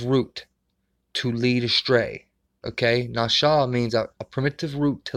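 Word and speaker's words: נשא: The word pronounced NASA, but rather Nasha with the sh sound and opposed to the S sound.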